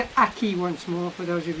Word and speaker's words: akee: It's called an Akee once more, for those of you who didn't get it. It's called an Akee.